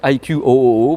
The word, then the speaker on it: iQOO: Le tarif donc du iQOO, ça s'écrit iQOO, mais c'est iQOO a priori, c'est ce qu'on m'a dit, oh, c'est iQOO.